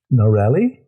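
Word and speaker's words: Narelle: i could not regular names you know it's narelli sound it out n-a-r-e-l-l-e that's sounding it out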